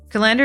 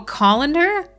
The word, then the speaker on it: colander: Calendar is a technical actual term, but I call it a strainer. Okay. Oh, colander?